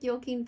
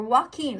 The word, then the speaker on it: Joaquin: Or Joaquin, I think is how you pronounce it.